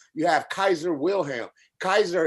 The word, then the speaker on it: Caesar: Kaiser is how you correctly pronounce the word Caesar. In Latin, you wouldn't say Caesar, you would say Kaiser.